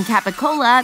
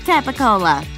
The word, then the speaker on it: capicola: chords or your mouth the hard c in capicola became a g p shifted to a b o got elongated to ooh and like in so many other words the last vowel disappeared i will have to